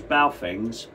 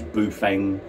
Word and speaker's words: Baofeng: Specifically, I want to talk about these Baofengs. They're pronounced so many different ways, Bufeng, Baofeng.